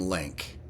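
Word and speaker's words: LINQ: going to use some link link is spelled l NQ and it stands for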